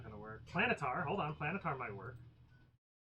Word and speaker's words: Planetar: Oh, I was going with Plane Eater. No, Planetar.